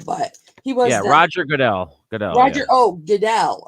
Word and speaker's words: Roger Goodell: Roger Goodall? So The football for commissioner. He's not yeah, the yeah, football commissioner now, but he was yeah, then. Roger Goodell.